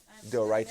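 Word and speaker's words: דאורייתא: that, like Deoraita. mispronounced it, Deoraita.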